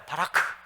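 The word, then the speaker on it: ברכה: 따라 봅시다 히브리어 말입니다 블레싱 이라는 단어가 히브리어로 따라 본다 바라카 가짜를 부 철 약한 바람 발음 발음이 나와야 됩니다 이 게바라가 무슨 얘기냐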